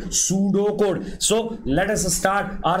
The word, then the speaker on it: pseudocode: Next step is beta algorithm, which is also known as pseudocode, where P is silent. It is pseudocode, which looks like a program, but it is not a program.